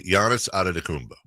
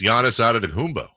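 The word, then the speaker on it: Antetokounmpo: the longest time like I'd say Giannis ad Dumbo and she's like no it's Giannis ad of Dumbo what yeah you're saying a Dumbo and it's actually a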